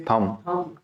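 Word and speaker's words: thumb: ये थंब पता है ना, अंगूठे को कहते हो आप, हैं? तो इसकी प्रोनाउंसिएशन थंब नहीं होती, थंब।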